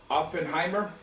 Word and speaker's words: Oppenheimer: I think it's pronounced Oppenheimer.